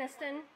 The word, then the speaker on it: Aniston: How do you pronounce her name? Aniston.